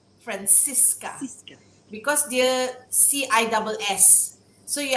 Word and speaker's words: Francissca: the name actually it's francisca francisca because there cis so you emphasize on francisca uh it sounds spanish but on one hand it's pronounced francisca you know italian almost um but uh yeah